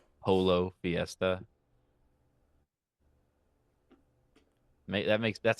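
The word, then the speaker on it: pollo: this weekend that like it's not Polo po how we're still doing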